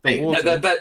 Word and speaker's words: water: I mean, there's a D in that. Yeah, you guys put a D in it. Water. There's no D.